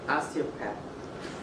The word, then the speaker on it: osteopath: An osteopath Very good.